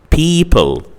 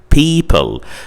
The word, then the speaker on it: people: Also, you can have the combination EO in spelling represented by the sound E, like the word people, like the word people.